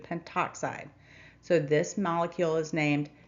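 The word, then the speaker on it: pentoxide: Instead of pentto oxide, you will need to drop the a off the prefix and simply include penttoxide.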